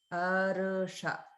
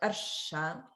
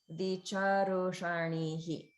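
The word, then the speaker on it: विचर्षणिः: So it's not like arsha, it's arusha, arusha. Vicharushanihi, charushanihi. Okay. And then the other thing to notice is that the upper swara is on the cha syllable. It's not on the r or the sha.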